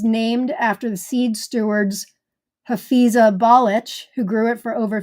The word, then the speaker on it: Hafiza Balic: Okay, the pronunciation of this variety from Turkey is Hafiza Balic. Breaks it down, it says ball itch. No joke. But it's Hafiza Balic is the pronunciation, pink.